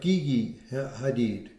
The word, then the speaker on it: Gigi Hadid: can tell, he was dating, I guess it's pronounced Gigi Hadid.